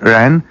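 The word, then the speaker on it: 仁: La vertu première, principale, la plus recherchée du comportement chinois se dit Ren et s'écrit avec la clé de l'homme suivie du chiffre 2, de 2 barres.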